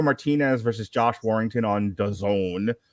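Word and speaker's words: DAZN: versus josh warrington on dazon which rhymes with calzone uh we got tim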